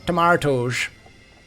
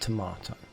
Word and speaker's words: tomato: But yeah, getting some tomatoes. And yes, it's pronounced tomato. Not tomato. Tomato. Languages and accents.